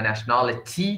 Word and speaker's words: nationality: is American you know nationality they don't say they say National nationality they pronounce t as D is you know nationality